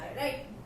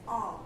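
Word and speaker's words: hour: Vowels में आ रहा है, राइट। फर्स्ट वर्ड क्या है, साइलेंट है। सपोज ये है वर्ड, इसको हम प्रोनाउंस कर, the correct pronunciation is आ, नॉट हॉर, right.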